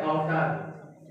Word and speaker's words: अवसाद: आज का शब्द है अवसाद। इसका उच्चारण है अ व स में आ की मात्रा द।